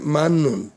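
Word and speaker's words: 맞는: এই মাতনুন, এই দেখেন, এই যে মাতনুন খসুবসিও, মাতনুন উচ্চারণ হবে মান্নুন।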